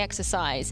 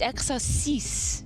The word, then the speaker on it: exercice: I would say exercise. It's exercice. Yes, correct.